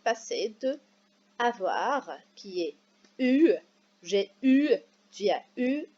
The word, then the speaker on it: eu: Mais avant, bien sûr, on va commencer par les participes passés de avoir, qui est eu. J'ai eu, tu as eu, c'est E, U, mais on prononce U.